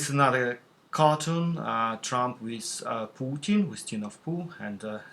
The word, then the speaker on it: Putin: yeah, Putin, which also more accurately reflects the pronunciation of this name in Russian, Putin. So if it's spelled like this, the one should rather pronounce it as Putin, but it's not Putin, it's Putin.